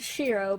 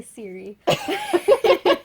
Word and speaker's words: Shiro: It's Shira, but I was gonna say Siri.